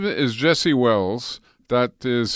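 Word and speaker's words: Welles: His name is Jesse Wells. That is spelled W-E-L-L-E-S if you want to look him up.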